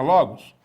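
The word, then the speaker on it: λόγος: bem que o logos palavra logos tem o acento agudo na penúltima sílaba que é a sílaba ló de logos muito bem na palavra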